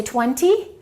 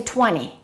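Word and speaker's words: twenty: When you say the word 20, you can say it two different ways. You can say 20, but more people just say 20.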